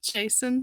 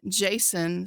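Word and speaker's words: Jacen: hyping it up since day one we saw Jason sundula I was so happy with chopper I'm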